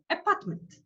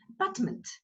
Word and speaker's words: apartment: Apartment. Here, schwa sound, that is the sound which you pronounce very fast. Okay, you almost don't hear it. Apartment.